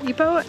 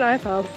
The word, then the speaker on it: Ipoh: now we are headed back into um EO and which is how you say it it's not IPO been saying it wrong this whole time um we're headed back